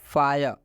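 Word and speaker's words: fire: तो रूल बोला कि जब आई के बाद से आर ई आता है तो इस आई का उच्चारण आय हो जाता है क्या होता है आय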